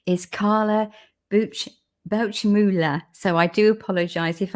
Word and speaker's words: Bauchmueller: So yeah, my name is Carla, and my last name is Bauchmueller.